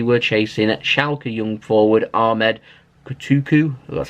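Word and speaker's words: Ahmed Kutucu: A report in Turkey were claiming that Manchester City were chasing Schalke young forward Ahmed Kotuku, that's how you say his name, 19 years old, but apparently Schalke have said he isn't for sale and he's staying put.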